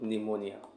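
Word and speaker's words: pneumonia: होगा देखेंगे एक सेकंड निमोनिया का स्पेलिंग प से स्टार्ट होता है लेकिन बोलते हैं हम लोग निमोनिया ठीक है तो आखिर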